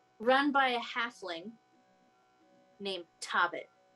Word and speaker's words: Tobbit: And it is run by a halfling named Tobbit. Tobbit. Spelled like Hobbit, but with a T.